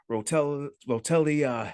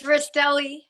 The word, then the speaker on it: Rastelli: So let me introduce everybody to Rotelli. Is that how you say it? It's Rastelli. Yep, Rastelli. Yep. All right.